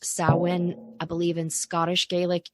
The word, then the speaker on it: Samhain: If you see it written out, it looks like Samhain, Samhain, but in Irish, it is pronounced Samhain.